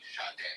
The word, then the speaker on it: Sade: If you see it, just real quick, if you see a baby's name spelled like shade, that is actually Sade.